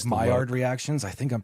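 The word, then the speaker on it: Maillard: So, there's like Mayard reactions. I think I'm pronouncing that correctly.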